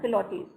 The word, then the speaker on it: Pilates: This is pronounced as Pilates.